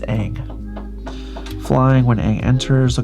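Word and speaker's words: Aang: And so I just I'm saying it wrong, but it's Ang flying.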